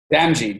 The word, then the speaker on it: Damji: say your last name Benji just like a DNA and the letter G all right so Jamil